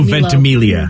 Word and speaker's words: Ventimiglia: name vicky i thought it was it's milo ventimiglia yeah yeah so yeah milo definitely i mean